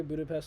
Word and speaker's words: Budapest: 14th I wanted to go to Budapest okay Budapest you might be wondering why I said it like that that's how they pronounce it blah blah blah but it's a